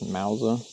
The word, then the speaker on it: Mousa: Mentioned it in a previous video I recorded, but if you're curious, I am using the, I think it's pronounced Mousa. It's M-O-U-S-A inflatable paddleboard.